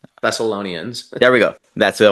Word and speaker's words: Thessalonians: um was uh and I always say this name wrong in the Bible is second Thessalonians. Thessalonians.